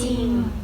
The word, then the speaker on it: จริง: คะ นัก เรียน จริง จริง เด็ก ๆ สังเกต นะ คะ ว่า จาน ควบ กับ ร เรือ แต่ เรา จะ อ่าน ออก เสียง แค่ เพียง เสียง จาน ใน พยัญชนะ แรก เท่า นั้น นะ คะ ค่ะ คำ